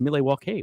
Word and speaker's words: Milwaukee: with the Native Americans and actually it is pronounced milewalke which is Algonquin for the good land yes